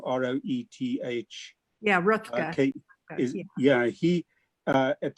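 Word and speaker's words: Roethke: Rothko, I don't quite know how you pronounce his name, R-O-E-T-H. Yeah, Rutger.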